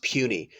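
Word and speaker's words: puisne: it's called puny judges is belt PU is n E but pronounce puny as in small rather rather demeaning so puny judge is appointed by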